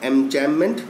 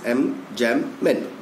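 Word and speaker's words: enjambment: तो this type of paragraphs are known as एमजैममेंट। बी is silent here.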